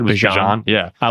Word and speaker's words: Bijan: His actual pronunciation, he said, was Bijan.